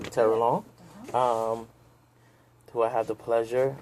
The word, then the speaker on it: Terrelonge: pronounce your last name for me so I can pronounce it. Terrelonge. I had it right, Terrelonge.